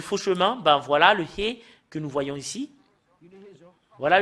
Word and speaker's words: ה: Le fait de prononcer le He, c'est AH ou A.